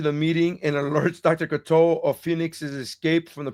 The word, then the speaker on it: Cocteau: Yeah, Cocteau.